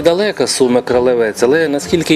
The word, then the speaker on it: Кролевець: на мапах того часу місцеві мешканці вимовляють слово Кролевець на польський лад Кролевець із наголосом на другий склад для розвитку міста а